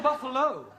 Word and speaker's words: Buffalo: a big bu oh Buffalo ter confused yeah words that um endino like Buffalo or radio or vertigo you pronounce the O but when there is no o you don't add one understand yes I give